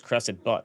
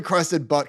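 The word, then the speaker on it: Crested Butte: do you pronounce that pretty sure it's crusted butt right crusted butt okay I go to it's spelled b tte it's ask Sean he's from Colorado I go to crested butt Colorado and see $5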